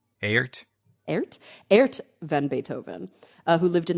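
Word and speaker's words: Aert: do you guys know how to pronounce that name a-e-r-t aart van Beethoven who lived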